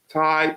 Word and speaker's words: Ty: Ty, T-Y. But you can pronounce it as T-I-E.